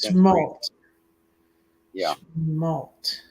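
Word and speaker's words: Chemult: again c-h-e-m-u-l-t i'm spelling it wrong okay that's pronounced small malt yeah population like 203 inconveniently located for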